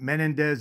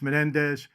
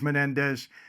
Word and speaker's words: Menendez: I said it right A lot of people correct me they say Michael it's not Menendez it's Menendez I do my best sometimes I slip back but it is Menendez and we'll follow that